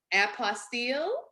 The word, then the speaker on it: apostille: probably have heard about and I may be pronouncing this incorrectly so forgive me if I am apostille is that yes yes well Annie is a